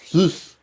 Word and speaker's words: Sous: Sauce. Sauce. Gotta pronounce the U.